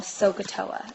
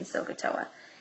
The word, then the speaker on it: SOHCAHTOA: So we have a nice little memory trick down here, which I call SOHCAHTOA.